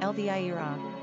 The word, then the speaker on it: Elvira: Pronunciation, Elvira.